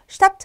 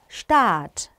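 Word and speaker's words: Staat: 이것도 Stadt 아니고요. Stadt 길게 발음해 주셔야 돼요. 이거를 Stadt 하고 짧게 발음해 버리시면 도시라는 뜻이 됩니다, 여러분. 뜻이 달라져요. 그래서 길게 발음해 주시고요.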